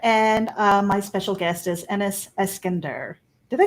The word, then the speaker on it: Eskander: Yeah, just think Alexander Eskander. Eskander. Yeah. Okay, there you go. I'm just putting the wrong emphasis on the on the wrong syllable.